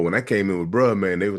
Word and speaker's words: Bruh Man: You say bro man, but it's bruh man.